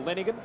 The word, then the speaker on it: Lenehan: And the Lenehan family must be about the only one in the world in which brothers pronounce the surname differently. His brother Michael is Michael Lenigan. The one playing today, Dennis Lenehan.